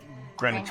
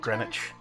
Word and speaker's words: Greenwich: to do Soho to Greenwich Village. Well, I'm gonna take these 2 blacks right here Greenwich Village? Greenwich? Greenwich. Village? Greenwich Village?